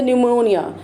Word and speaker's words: pneumonia: Then the pneumonia. It is starting with P, but when we pronounce, then this P is silent and we use the term, we pronounce it how? Pneumonia.